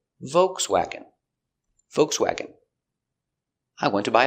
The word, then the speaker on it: Volkswagen: Pronunciation. Volkswagen. Vv. Vibration with your teeth. VV O V C-V WW open sound W vokesw awk swag Swag. Volkswagen. Volkswagen. Volkswagen. Stress on the first syllable. Volkswagen.